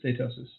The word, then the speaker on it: steatosis: Pretty sure it's steatosis. Steatosis.